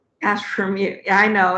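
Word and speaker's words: AstrumU: Astrum U. Yeah, I know. It's Astrum plus U.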